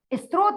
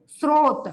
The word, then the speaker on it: स्रोत: लिखते हैं इस स्त्रोत आप लोग क्या उच्चारण करते हो इस स्त्रोत तो वैसा ही लिख देते हो इस स्त्रोत नहीं होता सही शब्द है स्रोत और स्रोत में आदत